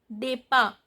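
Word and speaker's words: départ: So the nominal noun form is a depa. Depa. This accent on E, a, N is not pronounced.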